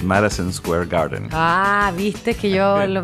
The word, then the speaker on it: Madison Square Garden: que pasa es que en inglés lo pronunciamos un poco diferente en inglés decimos marison Square Garden Ah viste que yo